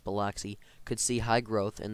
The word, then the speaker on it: Biloxi: With this high energy, Jackson or Biloxi, I believe it's pronounced Biloxi, could see high growth in the future similar to Atlanta.